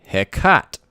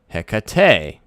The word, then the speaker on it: Hecate: Original Shakespeare, no E. Hecat. Modern Shakespeare, Hecate, or Hecate, whatever you want to pronounce it. I don't know. It's definitely three syllables, right?